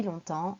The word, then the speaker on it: longtemps: en français ça fait longtemps ça fait longtemps que blablabla allez c'est parti on commence d'abord par l'explication du mot longtemps tout d'abord la prononciation long temps attention ces différents c'est